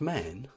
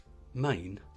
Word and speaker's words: Maen: foreign now I've heard the brand pronounced man Main and man I'm sticking with man but I may be wrong the amount of swedish-based